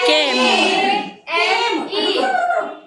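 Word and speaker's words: came: कि सी ए एम ई, क्या हो जाएगा, केम, केम, है ना बच्चे? ये साउंड आई, है ना? और ई की साउंड तो साइलेंट हो गई पूरी।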